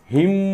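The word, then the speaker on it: hymn: वगैरे ठीक आहे ना याला आपण हिम्न नाही म्हणत हिम न असं म्हणतो का नाही फक्त काय म्हणतो आपण हिम म्हणजे इथे एन सायलेंट आहे इथे डब्ल्यू सायलेंट आहे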